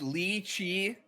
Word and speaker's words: lychee: right pronunciation how is it actually said it's lychee so my whole life has been a lie it's been lychee this whole time it's lee chi okay dota g you can pronounce it in two different ways right according